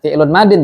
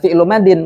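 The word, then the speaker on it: فعلٌ ماضٍ: Berarti bacanya fi'lun madin, jangan fi'lu madin, karena naat man'ut.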